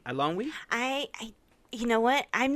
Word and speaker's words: Eilonwy: I'm not sure either I think what she introduces herself she says I'm I don't we so I'm almost positive that's how you say it correct me I don't know